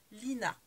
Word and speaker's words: Lina: a une chaîne donc c'est Elodie comme le prénom Lina comme ça se prononce